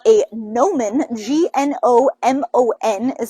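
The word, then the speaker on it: gnomon: to be what we're going to call a nomen g-n-o-m-o-n is how you spell that and basically that's just the thingy that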